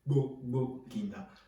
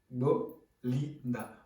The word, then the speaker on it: Gbogbolinda: mot fétiche, ce terme-là, qui se dit Gbogbo-Linda. Bon, ça va pas être facile à dire pour certains, mais avec de l'entraînement, on finit par s'y faire. Gbogbo-Linda. Vous décomposez les syllabes. Gbogbo-Linda, qui signifie la joie